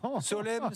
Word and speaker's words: Solène: orthographe, puisqu'elle-même nous dit Solène, ça se prononce comme automne. Il y a un M et un N, mais on ne prononce pas le N.